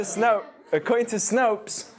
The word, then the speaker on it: Snopes: So according to Snopes, is that how you say it?